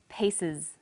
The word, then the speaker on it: pieces: The example was pieces. Pieces. The S on the end is pronounced z because it followed an S sound.